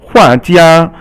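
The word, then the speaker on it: 画家: And then hua jia, hua is fourth tone and jia is first tone.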